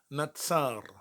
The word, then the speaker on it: נצר: second hebrew and the word today will be natsar natsar spelled with a noon saudi and a rash but